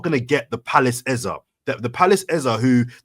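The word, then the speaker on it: Eze: clarify because on I I thought to say he's pronounced his own name Ez. Yeah. Now people are saying Eza, but everyone said EZ.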